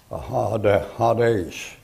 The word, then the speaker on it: Hades: Down here you have in Greek you have this, Hades, look like that. When you take that and transliterate it, you get Hades. And that's a long A in there, Hades, like that.